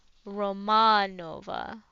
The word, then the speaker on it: Romanova: the first a of Romanova very long let's see the second a t an and roma Romanova okay I think that that's how we pronounce it my friends call me